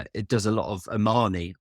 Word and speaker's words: Omani: Yeah, Omanish cooking. I don't know how you say it. Omani. Not Armani, but you know.